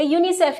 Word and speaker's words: UNICEF: जैसे आप इसको अलग अलग नहीं बोलते, UNICEF नहीं कहते, यूनिसेफ कह देते हैं, इसको यूनेस्को कह देते हैं और इसको नाटो।